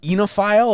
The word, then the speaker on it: oenophile: And is Oenophile, is that the right way? Did I pronounce that right?